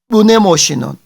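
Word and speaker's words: μνημόσυνον: 발음이 좀 어렵죠. 자, 무네모시논.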